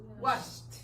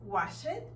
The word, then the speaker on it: washed: Wash, washed. Walk, walked. Entonces, no es stop it, no es work it, no es wash it y no es walk it, porque la letra E es muda.